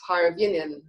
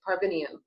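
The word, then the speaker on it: Parviainen: He has a studio called Counterpoint, and his last name is pronounced Parvinian. He's Finnish. He's Parvinian.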